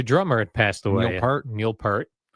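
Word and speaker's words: Peart: Neil Pert. Although, someone told me, I remember when he passed away, they're like, "No, everyone's saying it wrong. It's Neil Pier."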